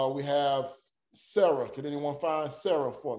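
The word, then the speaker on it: שָׂרָה: Sira. No. Okay. You got it almost right. But the sin is pronounced what? It's just an S. So okay. It's just an S and not SH.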